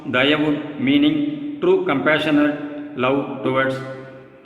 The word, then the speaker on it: Dayavu: Let the soul life of divine D-A-E-I-O-U, Dayavu, pronounced Dayavu meaning true compassionate love towards our fellow beings, fill in all our mind, thought and word as well as the acts therefrom.